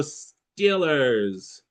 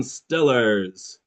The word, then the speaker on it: Steelers: Is it green tea Steelers or silver pen Stillers? Green tea Steelers or silver pen Stillers? Some people in Pittsburgh pronounce it with that non-moving silver pen instead of that moving sound, green tea Steelers, Stillers, okay?